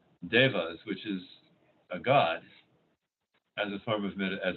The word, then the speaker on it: devas: was named eva after so devas is how it's often pronounced and it's also by the